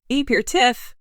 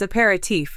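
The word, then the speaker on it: apéritif: Clue the Jeopardy player M sha said e your tiff with three syllables the correct way to say the answer is a parti with four syllables even so both the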